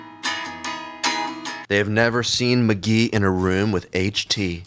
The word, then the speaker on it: Mk.gee: Pronounced McGee.